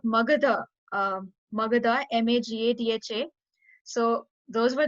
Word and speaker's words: Magadha: Okay, it's Magadha, Magadh. Magadha. Yeah. DHA. Like I think they misspelled it, so it should be DHA.